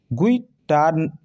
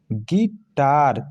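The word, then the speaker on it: guitar: गुइटार, गुइटार बल्कि नहीं पढ़ेंगे, इसे क्या पढ़ेंगे, गिटार, क्योंकि यू होता है साइलेंट, ठीक।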